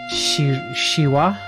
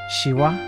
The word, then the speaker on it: Shivah: I am the Shira pronounce like the Hindu god but with the accent on the final vowel shiwa shiwa I don't know